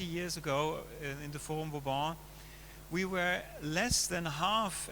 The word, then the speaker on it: Vauban: The Vauban district, or Quartier Vauban, French pronunciation, has been a barrack